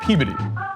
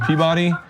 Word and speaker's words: Peabody: Massachusetts, we pronounce that Peabody. In other places in the country, it's pronounced Peabody, but in Massachusetts, it's Peabody.